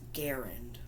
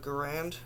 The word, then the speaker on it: Garand: Or actually, it's pronounced Garand, I think.